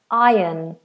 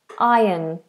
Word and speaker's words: iron: how do you pronounce iron iron I iron my shirt notice the r is silent we just say iron iron it's like there's a y in the middle iron iron um what